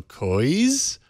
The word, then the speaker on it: Cogi: Is it Cooji's or someone in the chat room is saying the G is silent, so Kois highlights and DVR style approach.